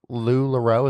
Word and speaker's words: LuLaRoe: time, but she was the first retailer with LuLaRoe.